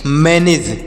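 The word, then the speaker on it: manage: और देखिए अगला क्या है एम ए एन ए जी ई एम से पढ़ेंगे म ए से ऐ की मात्रा यन से पढ़ेंगे न ए से ए की मात्रा जी से ज ई का उच्चारण नहीं होगा तो इसे पढ़ेंगे मैनेज इसे क्या पढ़ेंगे प्यारे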